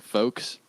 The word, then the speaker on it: folks: just doing it, like folks, it kind of sounds wrong. Yeah, folks sounds. Well, no, the L is silent unless you're talking about folk music.